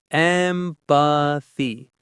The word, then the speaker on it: empathy: Empathy. The stress is on the first syllable, M. Listen to how the th sound is made. Your tongue gently touches behind your front teeth.